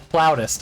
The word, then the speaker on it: flautist: Flautist. Oh. It's pronounced flautist.